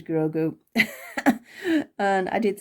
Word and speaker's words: Grogu: get his name wrong it is grogo and it is not goku it is grogu and i did say